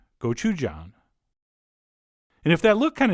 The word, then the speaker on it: gochujang: And then we'll also at this stage put in a couple spoons of Korean chili paste, which is called gochujang, or as I prefer to pronounce it, gochujang.